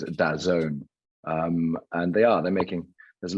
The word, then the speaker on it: DAZN: And I know, yeah, it's funny, DAZN, I wasn't sure whether it was DAZN or how to pronounce, but as you rightly say, it's DAZN.